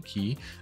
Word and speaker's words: quay: be have a big key above it apparently that's how it's pronounced they used to pronounce it Quay but it's definitely key so so yeah so